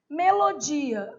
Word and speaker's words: melodia: Melodia, não tem acento no vizinho, o final fica separadinho. Melodia. Então, paroxítona e polissílaba.